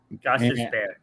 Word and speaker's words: Gostisbehere: Picked up Shane Gostisbehere. Gostisbehere. And from and I know I said it right because you corrected me last time, and now you don't mess with me.